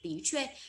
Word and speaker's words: 的确: Chúng ta đọc là tí chuê.